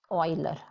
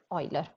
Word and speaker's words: Euler: way so it is euler you pronounce it just like oil but euler so it's so interesting